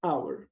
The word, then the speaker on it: hour: letra h acho que esse h não for pronunciado unção forte vogal a gente vai a inscrição é igual aqui and our uma hora tá bom e agora a expressão